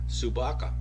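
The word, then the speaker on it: собака: Dog, by the way, is pronounced Subaka in Russian.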